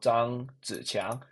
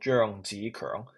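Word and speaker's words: 張子強: say it in English, but in Chinese, I mean Mandarin, it's called Zhang Ziqiang, and Cantonese it's called Zheng Zikeng.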